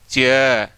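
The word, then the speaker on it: chair: सही उच्चारण इसका फोन क्या आएगा, चेयर, और ये आर हो गया साइलेंट क्योंकि ए पूरा आ गया।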